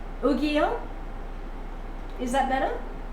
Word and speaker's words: Yu-Gi-Oh: As in gi, like your karate gi was a gi. Yu-Gi-Oh. Is that better? Yu-Gi-Oh.